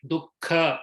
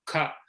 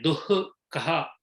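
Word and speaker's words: दुःख: In places like Dukkha or Sukha, there the Visarga is half. Yeah. Dukkha. We don't say Duhkha or Suhukha.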